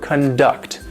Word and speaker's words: conduct: which means somebody's behavior this is the verb conduct the stress is on the second syllable now there are many